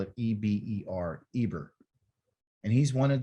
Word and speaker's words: Eber: comes from this work or this why they spell it e-b-e-r eber and he's one of the descendants of